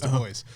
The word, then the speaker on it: Du Bois: Du Bois, which is spelled Dubois, but everybody says Du Bois.